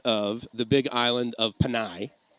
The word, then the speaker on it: Panay: Panay. Okay, I wanted to make sure I was pronouncing it right.